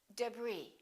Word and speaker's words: debris: cupboard my kitchen cupboard silent s arkansas illinois island debris all right one more